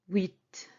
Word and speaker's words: huit: 8 is huit. Huit. Oui. Oui. As when you say yes in French, you say oui. So it's the same sound, but then you add T.